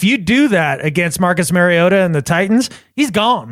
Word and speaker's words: Mariota: do it again Mariota he says a cut in between he doesn't say Mary doesn't say Mariota either Mariota Mariota I'm glad we're spending time our listeners are gonna know they're gonna know when somebody's pronouncing Marcus mariota's name incorrectly you just did it wrong you just did it the way that I was doing it right there not marry like Mario Super Mario Brothers Mariota all right it's